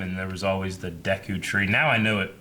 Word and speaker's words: Deku: talker of time and there was always the Deku Tree now I knew it is pronounced Deku from playing rest a while cuz that's voice acting in it when I was a kid I always called it deco mmm-hmm everyone did yeah I just watched a